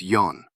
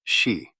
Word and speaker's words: 四: The most useful reading for counting is yon, although it can also be read shi.